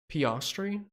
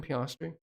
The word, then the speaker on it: Piastri: when Max doesn't win it was uh pastry he say his name piastri so Johnny Z Byron